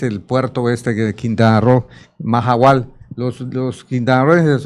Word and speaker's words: Mahahual: para qué sirve, pero la pronunciación es Mahahual. Se escribe Mahahual con 2 H's, ¿qué estás haciendo?